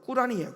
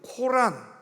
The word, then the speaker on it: 꾸란: 그러니까 이슬람 아랍어로 정확한 발음은 꾸란이에요. 꾸란. 그러니까 우리나라 말로 편안하게 부를 때는 그냥 코란, 많이 들어봤죠?